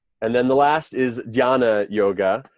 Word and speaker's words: Jnana: And then the last is Dhyana Yoga, which is spelled Jnana. And that Jn, it's similar to our word knowledge starts with that KN, that's sort of why, what's weird, right? It's the same sort of thing, jnana and knowledge.